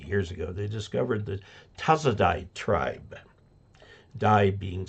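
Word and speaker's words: Tasaday: this is 50 years ago they discovered that tazadai tribe die being spelled d-a-y it's pronounced in the Philippines the tazadai tribe who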